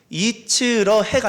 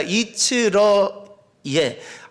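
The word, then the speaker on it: 一賜樂業: 중국 발음으로 중국식으로 저것을 표현하면 이렇게 읽혀진다고 합니다. 이츠러예. 이츠러해가 아니라 이츠러예.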